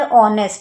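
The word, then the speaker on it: honest: तो यहाँ पर ऑनेस्ट, यहाँ पर एच साइलेंट है तो वोवेल साउंड आ रहा है, ओ क्या होता है?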